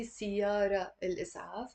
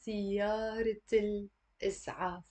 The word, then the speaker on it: سيارة الإسعاف: And we don't say siyara al-is'af. That would be completely wrong. We have to say siyarat al-is'af.